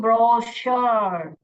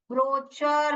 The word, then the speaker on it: brochure: हैं, तो उसको ही बोलते हैं ब्रोशर, ब्रोशर। ये ब्रोकर भी नहीं है, ब्रोचर भी नहीं है। अगर यहाँ पे च साउंड पढ़ लिया तो हमने देखिए ब्रोचर, ब्रोचर बन जाएगा, जो कि गलत प्रोनाउंसिएशन होगा।